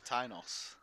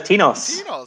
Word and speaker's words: Tinos: it i've always said tynos no it's tinos because yeah because originally his username was martinos yeah uh but yeah